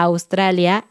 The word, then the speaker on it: Australia: en la pantalla a australia elimina todas las consonantes y ahora solamente escribe las vocales pronuncia decirlas sería así